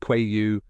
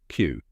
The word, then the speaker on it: queue: Q it rhymes with Q let's break it down step by step that's it even though it has five letters it sounds just like the letter Q now say it with